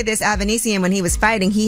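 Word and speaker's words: Avanesyan: Avanesian. That's how you say it.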